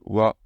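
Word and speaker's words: は: aux États-Unis au Titi oua Butini et le pareil ici il y a le WAF va voir c'est bien a mais ça se prononce wa Titi c'est donc mon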